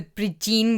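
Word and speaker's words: Brídín: And I think the Bridene with that kind of DG sound would be the pronunciation.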